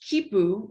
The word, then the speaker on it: Khipu: And then from that, some Latin American AI researchers said, we want to do the same in Latin America, and launched KIPU, which is spelled KHIPU.